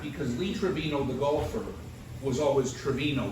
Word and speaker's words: Trevino: um Jose Trevino catcher I think they say Trevino there's a picture to it although on the other hand he probably was Trevino the Americanized it he might have been